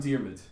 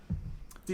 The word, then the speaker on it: Diarmuid: We're pretty consistent on Diarmid, That's good. about we it. got something. We got something. which is spelled Diarmuid. Yeah. Diarmid.